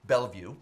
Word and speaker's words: Bellevue: view b l l e v u e bell view that's how it's pronounced there they know what they're doing they